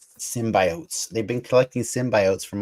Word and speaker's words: symbiote: symbiots from all over you got to say it like Jenny slate symbiotes symbiotes they've been collecting symbiotes